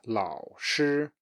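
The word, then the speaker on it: 老师: Teacher is 老师, 老师.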